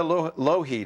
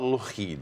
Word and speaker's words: Lougheed: Lougheed is with us.